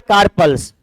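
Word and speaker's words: corpuscles: दूसरा blood कार्पल्स, यूएस इसमें silent होता है, कार्पल्स बोलते, ठीक ना, ब्लड कार्पल्स बोलते हैं इसको।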